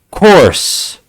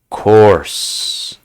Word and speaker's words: course: For example, it rhymes with horse, but it's not spelled the same way, right?